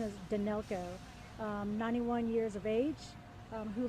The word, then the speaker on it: Danylko: Pronunciation is Danylko, 91 years of age, who lived in one of the condominiums.